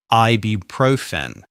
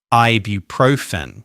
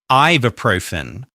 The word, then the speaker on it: ibuprofen: The most common pronunciation is ibuprofen. Ibuprofen, with the main stress on the third syllable. But lots of speakers misplace the stress and say ibuprofen.